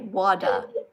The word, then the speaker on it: water: Cuz we don't pronounce the r in Australia.